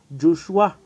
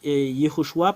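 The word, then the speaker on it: יהושע: Josué tout ceux qui prie yhoshua prie Josué ou jhoshua ou Joshua ou Yeshua nous allons voir quelle est la raison pour laquelle c'est faux tout ce que vous avez prononcé nous allons l'effacer c'est sur quelle partie qu'on va effacer nous allons mettre ici Yehoshua parce que c'est c'est vraiment la signification et il y en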